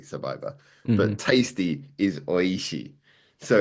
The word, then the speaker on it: おいしい: But when you look at the name in Japanese, so the word survivor is survivor, phonetically survivor, but Hmm. tasty is oishi.